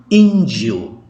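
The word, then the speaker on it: índio: Bacanya demikian. Injo. Tekannya di I.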